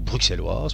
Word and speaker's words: bruxelloise: C'est un exchange centralisé, malheureusement, qui se trouve ici en région bruxelloise, ou bruxelloise pour ceux qui prononcent le X, et qui propose en fait de vous former au trading avec de l'argent virtuel.